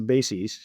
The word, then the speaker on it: BASES: Uh, it is BAS. I think most people there pronounce a bass.